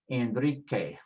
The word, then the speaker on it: Enrique: say gay, gi, and the same with the Q, which is a K sound. Say K, ki. So it's gay, gi, K, ki. We'll need those sounds in order to pronounce some of the words like Enrique, Enrique.